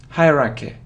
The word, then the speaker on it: hierarchy: Haraka Haraka Haraka so you see that the main stress is on the first syllable hurricane hierarchy hierarchy hierarchy but it